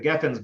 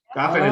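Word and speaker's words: גפן: Kiddush, Bori Pri HaGafen, Gafen is like a weird thing that happened at some point or another. It really should be pronounced Geffen.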